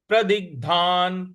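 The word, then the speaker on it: प्रदिग्धान्: है भोगान रुधिर रुधिर प्रदिगधान प्रदिग्धान प्रद जो ग है यहां पर हमको आघात देना है प्रदिगधान तो पूरी पंक्ति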